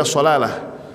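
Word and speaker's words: صلالة: Itu di sana ada satu kota, satu daerah namanya sulalah. Bukan pakai sin pakai shad. Sulalah atau dibaca shaalah itu daerahnya dingin, sejuk.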